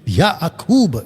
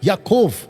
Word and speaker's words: याकूब: और वहां पे परमेश्वर चाहता था कि याकूब, उसका सही प्रोनाउंसिएशन है याकूब, याकूब, और जो इजरायली आज भी बोलते वो बुलाते याकोफ, याकोफ, ओके।